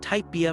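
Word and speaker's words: Typebea: In April 2024, she launched Type BIA, pronounced TypeB, a higherformance inclusive hair care line.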